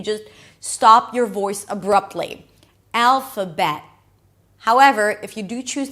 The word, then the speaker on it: Alphabet: Alphabet. Guess what? We begin with the A as in cat here as well. But then we move on to the dark L.